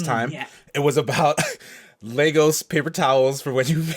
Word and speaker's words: Lagos: I just want to point out, they kept mispronouncing the city of Lagos as Lagos. Yeah. Like, I'm actually Nigerian. Like, I've been to that city. Like, it's Lagos, Nigeria, not Lagos.